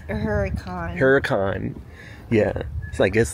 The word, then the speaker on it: Hurricane: how did the lady say we have to pronounce it it's not hurricane it's a Huracan Huracan yeah so I guess like a cuz